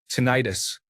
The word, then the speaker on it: tinnitus: Tinnitus. The first part of the word rhymes with minute, but I incorrectly pronounced it so that the last part of the word rhymed with arthritis.